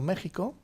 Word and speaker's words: México: lengua en aguator y la equis se pronuncia como jota por ejemplo méxico o puede ser como